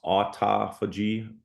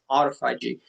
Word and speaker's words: autophagy: Another huge benefit is I think it's pronounced autophagy, and it's where the body starts breaking down